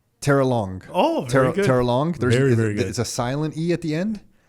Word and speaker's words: Terrelonge: Terrelonge. Oh, very good. Terrelonge. Very good. It's a silent E at the end? Yeah, it depends. It is French. How do you say it? Terrelonge.